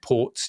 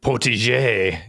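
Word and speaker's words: Portégé: was the last one sorry por it's got accents on the E so assume I thought I'd say it like banjo yeah uh and it was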